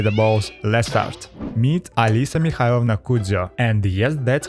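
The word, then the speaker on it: Alisa Mikhailovna: the cat by the balls let's start meet Alisa mnao and yes that's how her name is pronounced a little language lesson from a native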